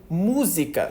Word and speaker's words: música: Como que a gente entende que música, só de ouvir, tem uma sílaba tônica no MU? Música.